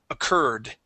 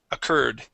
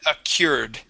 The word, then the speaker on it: occurred: word here um that Ur are is actually pronounced e occurred occurred occurred yeah you would said accured okay which would be correct if we were